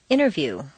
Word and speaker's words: interview: the button exercise 47 rule five the silent t t and N are so close in the mouth that the T can simply disappear repeat one interview two interface three internet